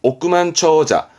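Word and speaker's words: 億万長者: 봤으니까 한번더 복습해 주시고요 억만장자 억만장자 발음은 오그만 처자 오그만 처자입니다 오그만 처자 요렇게이 억자 화폐적 부분에서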